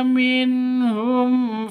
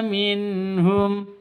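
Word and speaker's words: منهم: th'i fantqamna minhum minhum nun mati bertemu dengan ha jelas terang sama seperti mad ee karena ini izhar halqi itu sama dengan izhar sfa syafawi sama-sama jelas bacanya tidak boleh dengung tidak boleh dengung tidak boleh disentak minhum itu salah minhum yang betul minhum tidak boleh dibaca dengung minhum itu salah yang betul itu minhum begitu fantaqamna minhum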